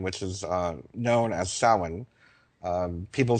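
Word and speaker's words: Samhain: idea of Halloween which is uh known as sin. Um people spell it s a m h a i n but it's pronounced sin.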